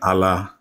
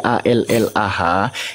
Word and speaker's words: Allah: dalam huruf latin menjadi a l l a h itu tetap pembacaannya mengikuti kaidah bahasa Arab bertafkim dia ditebalkan pengucapannya anda tahu enggak arti